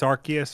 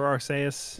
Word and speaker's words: Arceus: we confirm if it's arceus or arseius we confirmed that in japanese it's aru uh but there's like uh in the trailer in english they call it arceus right so you say